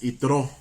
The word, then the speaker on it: Yitró: o menos algo así lo más aceptado es otro con acento en lado sale otro y quien